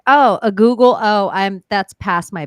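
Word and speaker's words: googol: AO Google PLA and they spell it goo G o o g o l is the the way that you spell the number Google and it sounds like a ghoul are these devices monsters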